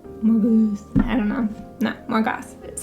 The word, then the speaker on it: Morgoth: No, Morgoth is how you say it.